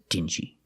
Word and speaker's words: dingy: his clothes they look dingy so remember the pronunciation Ding and dinged also dinghy and the last one is dingy thank you for watching and if you like